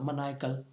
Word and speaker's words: maniacal: Maniac, maniacal, I'm sorry, it's maniacal.